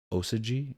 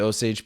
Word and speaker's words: Osage: the story of the how do you pronounce it osy or yes people and uh not to give away oh the oage oage I'm sorry yes the Osage people and um the series